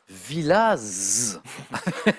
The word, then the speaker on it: Villaz: félicitations bon retour à Villaz 15 Z qui se prononce en Haute-Savoie on en